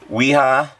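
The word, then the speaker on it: Wera: workbench uh these are weha screwdrivers at least that's how i pronounce it it's i believe they're made in germany so the w would actually be pronounced like a v um but anyway uh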